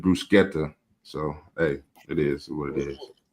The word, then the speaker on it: bruschetta: Everybody say bruschetta when it's bruseta.